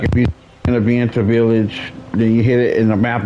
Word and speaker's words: Vienta: Just spy you met in Vienta village handed over a letter from Vienta, that's how you pronounce it.